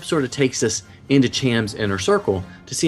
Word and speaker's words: Cham: comment that what have you say his name cam cham okay cham has a daughter apparently it's mentioned